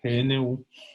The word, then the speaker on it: GNU: De hecho, este sistema hace parte del GNU, así se pronuncia, GNU, que es unas licencias, un grupo de paquetes